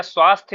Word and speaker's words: स्वास्थ्य: या तो आप स्वस्थ थे आखरी में या उच्चारण जरूर आता है ना जब भी आप स्वस्थ या स्वास्थ्य लिखिए ना तो लास्ट में या लिखना है